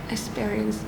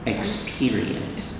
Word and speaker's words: experience: Now, fortunately, and experience. Experience. Experience. Yes. Long E sound.